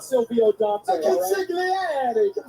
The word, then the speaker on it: consigliere: Luca Crucifino, the consigliere, dressed to the nines and ready for main event action. Yeah, you're saying it wrong, Peter. It's the consigliere.